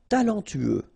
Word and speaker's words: talentueux: talentueux. Final X not pronounced. Then you get this U together. Then TU, tueux.